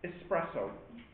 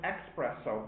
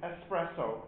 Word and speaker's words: espresso: strong powerful it's called espresso but some people some people call it expresso but that's not quite right uh e ex p r e no no no you pronounce it espresso but in English it's